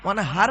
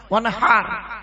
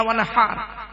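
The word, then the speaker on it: وانحر: ওয়ানহার নয়, ওয়ানহার, গলার ভেতর থেকে এটা উচ্চারণ হবে, ফাসাল্লি লিরাব্বিকা ওয়ানহার।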